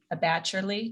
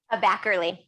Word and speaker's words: Abatcherly: Today is June 14th, and we are lucky to have Legendary Escrow and Abatcherly. Did I say it correctly? Abackerly. Oh. Almost. Very close.